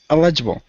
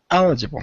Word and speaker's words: eligible: eligible F me okay elgible eligible no almost the stressing in the first okay eligible okay you have an an aing Mark there yeah yeah eligible that was perfect there eligible okay but uh